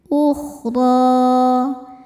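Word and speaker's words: الأخرى: Huruf ro dibaca tafkhim karena harakatnya di atas yaitu fathah. Cara bacanya ditebalkan. Ukhdro. Dan di sini juga ada hukum mad thobi'i. Mad thobi'i muqaddar. Karena ada ro dengan harakat fathah panjang. Cara bacanya panjang dua harakat saja.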